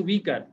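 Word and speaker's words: weaker: R help by হিম ওয়েকার না এটা হচ্ছে উইকার উচ্চারণটা কি হবে উইকার উইকার্ড হ্যাঁ উইকার্ড উইক মানে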